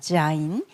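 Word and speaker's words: זין: 자인 이거는 지읒 발음이고 7번입니다. 지읒 발음 무기의 의미가 있다 그랬죠? 즈 발음이 난다 이렇게 보시면 되겠습니다. 자인 즈 발음 다 기억하시면 되겠습니다.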